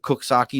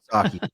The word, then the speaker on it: Coxsackie: Have you ever heard of Coxsackie, New York, Bob? Yes. Now, have you ever seen how Coxsackie is spelled? Yep. Does it sound like it says No. Coxsackie? Nope.